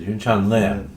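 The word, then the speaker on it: Yunchan Lim: Yun Chin Lam, right? Is that how you say his name? Yeah. Or Lim. Lim. Is it Yun Chan Lim?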